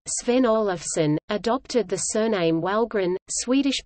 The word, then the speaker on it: Wahlgren: In the 1790s, Charles's great-great-great-grandfather, Sven Olofsson, adopted the surname Walgren, Swedish pronunciation, V-L-G-R-E-N, during his military service, a family fact passed down over the generations.